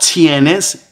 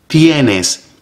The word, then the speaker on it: tienes: Once again, notice the T is very soft. It's not tienes, it is tienes. So you place your tongue behind your upper teeth.